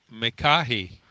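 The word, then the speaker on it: Micahi: Mahi.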